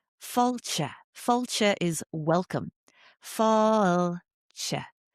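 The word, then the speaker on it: Fáilte: Even simple things like falcha. Falcha is welcome. Falcha. It kind of has 3 syllables. It has that long ah sound, the fada, the accent.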